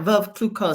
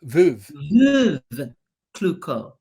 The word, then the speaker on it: Veuve Clicquot: Well, first of all, let me thank you for pronouncing Veuve Clicquot. Did I say it right? Veuve Clicquot. Say it again for us. Veuve. Veuve Clicquot.